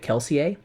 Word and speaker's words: Kelsier: And Brandon Sanderson had told my friend that uh in his mind he always pronounced it Kelseier like with a French Mhm.